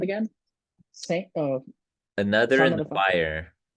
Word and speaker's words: SXXNT: guys that put it together's name I think it's pronounced Saint, but it's SXXNT.